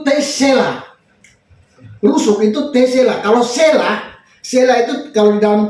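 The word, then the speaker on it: צלע: Sela, T Sela. Jadi bacanya Sela.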